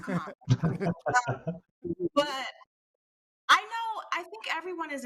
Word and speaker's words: Kamala: Well, first we have to pronounce her name properly, so it's Kamala, not Kamala.